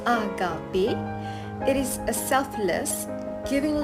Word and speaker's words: Agape: Finally, we have Agape, pronounced Agape.